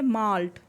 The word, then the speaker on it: MALT: Abbreviated form को हम pronounce कैसे करते हैं? माल्ट.